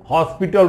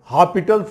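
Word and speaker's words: L'Hôpital: तो 2 function DL हॉपिटल rules, इसको डीएल हॉस्पिटल rules भी इसको लोग बोलते हैं, लेकिन यस इसमें साइलेंट है स्टूडेंट, तो हॉपिटल्स रूल हो जाता है।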